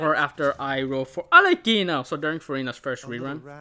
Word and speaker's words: Arlecchino: that way because, like, her name is pronounced, like, it's Italian, and you're supposed to enunciate the key, like, Alekina. And so, like, I would have to say Alekina, Alekina. But if I'm going to say Alekina, then I might as well just say it in Italian, Alekina, because it just sounds more natural that way.